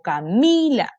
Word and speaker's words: Camila: Mi nombre tiene su sílaba tónica aquí, en la penúltima sílaba, porque yo digo Camila. Yo no me llamo Camila ni Camila, me llamo Camila.